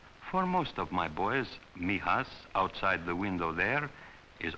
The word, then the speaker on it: Mijas: It is pronounced Mijas. For most of my boys, Mijas, outside the window there, is almost the only part of Spain they will ever get to know.